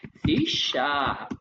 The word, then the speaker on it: C#: सी#श उसको उसका प्रोनाउंसिएशन क्या है? उसका प्रोनाउंसिएशन है सी शार्प you know सी शार्प